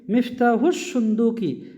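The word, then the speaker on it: مفتاح الصندوق: আর সুন্দুকুন মানে হলো বাক্স, কিন্তু আমরা জানি সদ এমন একটা হর, তার আগে আল থাকলে লামের উচ্চারণটা হয় না। তো যদি পড়ি মিফতাহুস সুন্দুকি, জের কেন হলো?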